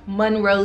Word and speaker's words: Monroe: ahead and follow act Monroe mo n ro e yes for some reason a lot of you spell my name wrong M you know it's mo like Marilyn alright guys check back